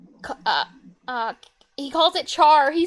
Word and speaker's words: char: uh he calls it Char he says Char not care I'm the only one who says care it's Char damn it yeah yeah I was